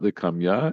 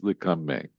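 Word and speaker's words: לקמיה: So it's not likamya, it's likame.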